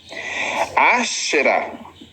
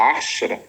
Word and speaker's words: Ashera: Adorar ao longo da história, entre tantos deuses, adoraram Astarote, Ashera, ou Azera, ou Azerá, como você quiser, a pronúncia correta seria Ashera, uma deusa.